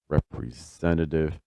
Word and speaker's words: representative: The stress is on zent represent. So your pitch movement is probably going to be something like duh du du du du du. So that second syllable is really going to drop and then that third syllable rises and then everything else drops again.